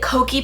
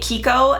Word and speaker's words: Kokie: one had just the Kokie Professional makeup brand. I was pronouncing it Kiko and that's a completely different makeup brand, so my apologies. This is Kokie and it's super cute, the packaging.